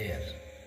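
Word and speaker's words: air: देख सकते हैं यहां पर लिखे एन एयर यहां पर हेयर नहीं पढ़ेंगे इसे एयर एन एम ए एम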